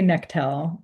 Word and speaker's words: Necttel: I say Necttel. No one knows how to say it or spell it, including me.